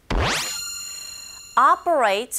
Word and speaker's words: operate: operate라고 들리라기보다는 오 철자 자체에 지금 강세가 있거든요. 그런 경우에 오 소리보단 아에 가깝게 발음하시면 돼요.